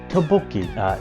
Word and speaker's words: Tteokbokki: Tteokbokki, spelled Tteokbokki, pronounced Tteokbokki.